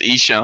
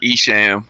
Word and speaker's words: Esham: know what i'm saying it's pronounced isho i'm not esham some moby looking [